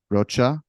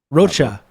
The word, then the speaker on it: Rocha: It's not actually Spanish, it's Portuguese.